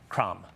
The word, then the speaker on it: Krame: Cram. I hope I pronounced your last name correctly, Dr. Cram? Absolutely perfect. Cram.